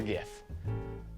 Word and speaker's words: GIF: think it's gif well it's obviously gif because that's how it's spelled g i f g goes g i goes and the f goes yeah it's just how it's